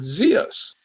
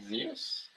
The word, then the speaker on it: Zeus: there for sure so according to them Zeus is called zos zos yeah I I had you